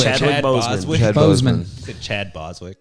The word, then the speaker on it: Chadwick Boseman: No, Boswick. Chadwick Boseman.